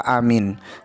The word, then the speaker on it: amin: Nah, kemudian kita disunahkan membaca amin. Amin. Cara membacanya seperti Yasin.